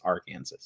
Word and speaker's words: Arkansas: But he was obviously pronouncing it wrong. It's Arkansas.